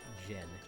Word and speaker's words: Djinn: We've received $5 from Gin and Tonic, and that by the way is spelled DJINN, Gin.